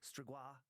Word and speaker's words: Strigoi: the Strigoi, pronounced closer to Strigoi in Romania, but more commonly pronounced as Strigoi in English.